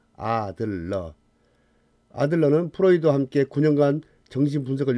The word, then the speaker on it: 아들러: 심리학의 대부 프로이드, 칼융, 아들러가 있는데 여기서 아들러인지 히틀러인지 발음을 확실히 구분해야 합니다. 아들러.